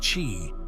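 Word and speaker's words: qi: of vital energy or QE pronounced chi in the body some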